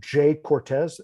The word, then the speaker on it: Jhay Cortez: On the kind of like reggaeton and trap side, there's a guy named Jay Cortez. It's spelled Jhay Cortez.